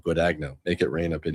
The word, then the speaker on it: Guadagno: Guadagno is how you say it in English.